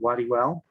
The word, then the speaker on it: Wadiwel: ago was Dinesh, and I'm not sure how you would pronounce it in India, but in Australia he pronounces it Wadiwell.